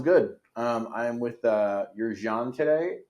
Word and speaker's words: Yerzhan: My original name is Yerzhan, but it's quite tricky to pronounce for, especially for Americans.